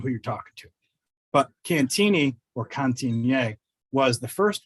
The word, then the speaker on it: Cantigny: might recognize the name the reason we pronounce it cantini is because that's how colonel mccormick pronounced it i get corrected all